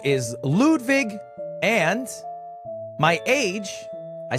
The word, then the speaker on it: Ludwig: My name is Ludwig, but it's pronounced Ludwig.